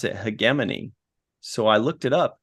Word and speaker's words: hegemony: And then the final episode, episode 10, was Hegemony. Although I heard somebody pronounce it Hegemony.